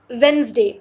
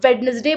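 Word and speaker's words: Wednesday: पांचवा लब्स है वेनसडे बहुत सारे लोग इसको वेडनेसडे बोलते हैं लेकिन इसे वेडनेसडे नहीं बोला जाता इसको हम वेनसडे बोलती हैं क्योंकि इसमें डी जो है वो एक साइलेंट लेटर है इसको बोला नहीं जाता लेकिन इसको लिखा जाता है डिजाइन डिजाइन का तो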